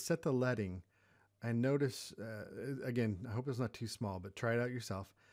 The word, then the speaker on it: leading: So anyways, that's what we're talking about with leading, and that's how it's pronounced, is leading.